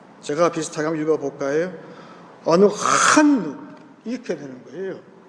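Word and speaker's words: אֲנַחְנוּ: 어느 한누라고 써요. 여러분, 제가 늘 얘기하지만 히브리 말에 H 발음은 굉장히 강해요. 제가 비슷하게 한번 읽어볼까요? 어느 한누, 이렇게 되는 거예요.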